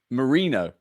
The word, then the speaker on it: Merino: tabs and the pronunciations how do you actually say it like marino marino like Marine like Marine like the water marino marino yeah yeah man